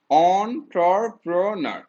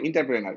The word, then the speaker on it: entrepreneur: অন্টারপ্রেনারের উচ্চারণটা কি হবে, অন্টারপ্রেনার। ওকে, এটা তুমি অনেকে ইন্টার বলে, ইন্টারপ্রেনার বা অন্টারপ্রেনার।